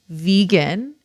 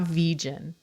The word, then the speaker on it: vegan: to tell people that it's pronounced vegan not vegen and i don't know